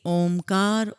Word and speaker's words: ओम: हुआ है संगत जी ओम शब्द के उच्चारण में अ शब्द पहले आता है फिर उ शब्द आता है फिर म और फिर उसका हम नाद करते हैं विस्तार करते हैं तो अ शब्द को